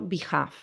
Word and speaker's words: behalf: y en el centro behalve. Fijaros que se escribe b e h a l f, pero la l no se pronuncia.